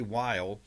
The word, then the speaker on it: Weil: Weil Center. Did I say it pronounced yes.